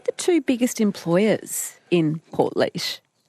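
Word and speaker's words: Portlaoise: So, a place called Port Leash, which uh it's funny to watch people try and pronounce it if they've never heard it before because it isn't spelled how it sounds, but smack bang in the middle of Ireland.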